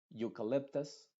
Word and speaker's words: eucalyptus: uno de la u por ejemplo eucalyptus Euphoria eulogy te das cuenta que esta eu la e está siendo completamente muda y la u es la que se está pronunciando con su sonido original número uno que es Yu aunque a veces se